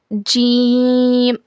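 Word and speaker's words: ج: जबान की बीच के हिस्से को ऊपर के तालू में लगाने से जी अदा होता है। इट is pronounced when the middle part of your tongue test C अपपर पैेट।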